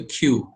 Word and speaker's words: queue: another one is the queue or when you this is this is spelled q-u-e-u-e it is also an abstract data type but not pronounced common guys it's q just like banana q okay so for q